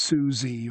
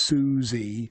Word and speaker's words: Susie: So it's Johnny loves Susie. So the stress syllable of Susie has to go on the beat at the end.